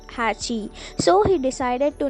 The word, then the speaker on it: Hachi: kanji representing number eight with Japanese pronounced Hatchi so he decided to